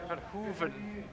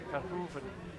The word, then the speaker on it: Verhoeven: He said it is Verhoeven. People say Verhoeven. Yeah. Apparently it's Verhoeven. Flemish pronunciation.